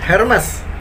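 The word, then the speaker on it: Hermès: ternama juga Hermes ya jadi bacanya hanya dihilangin jadi Ernest er Mas atau Hermes ya ya pokoknya hanya dibilangin teh Hermes Hermes Hai Hermes er away gitu aja gede banget enggak pakai h kemudian nah ini weh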